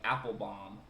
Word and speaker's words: Apfelbaum: She was like, app, like an app on the phone, fell, like fell down, bomb, like a bomb.